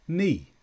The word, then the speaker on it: knee: K before N is not pronounced. It's silent. Knock, knife, knee. They knocked on the door, cut the bread with a knife. I've hurt my knee. So here we just pronounce the N sound, not the K.